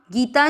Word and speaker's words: गीता: आज हम गीता जी के 18 नामों वाले श्लोक को उसके संस्कृत उच्चारण और हिंदी अर्थ के साथ सीखेंगे। " गीता" में दोनों अक्षरों का उच्चारण लंबा होगा।